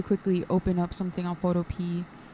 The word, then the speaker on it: Photopea: So I did very quickly open up something on Photopea. I'm pretty sure it's pronounced Photopea and not Photopea, but my brain keeps wanting to say it as Photopea.